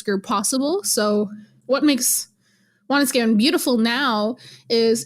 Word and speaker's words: Wanuskewin: is the valley where Wanuskewin, or Wanuskewin, if you say it properly in Cree, is situated.